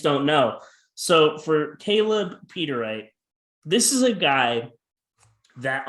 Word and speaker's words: Peteriet: difficult to pronounce um his name is peter wright peter wright okay thank